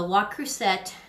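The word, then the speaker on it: Le Creuset: I just butchered this piece. I didn't cut it thick enough. The La Crusette, that's how you say it, La Crusette.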